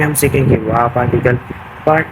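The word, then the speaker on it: は: Part one में हम सीखेंगे वाकल। पार्ट टू में सीखेंगे हम पर्सनल प्रोनाउंसिएशनंस।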